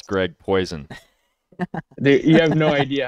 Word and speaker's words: Poisson: And we got none other than Greg Poisson, or how do you pronounce it? Poisson? Poison? Way off, dude. It's Poisson.